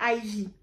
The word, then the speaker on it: Ivy: Voilà, donc qui s'écrit en chiffre romain 1 IV et qui se lit Ivy.